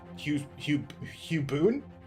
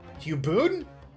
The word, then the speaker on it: Hugh Bone: Bone rhymes with soon. Hubon. Huboon.